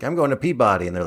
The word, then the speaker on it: Peabody: like I'm going to Peabody and they're like no that's puberty yeah it always sounds like puberty to me puberty awardwinning everything sounds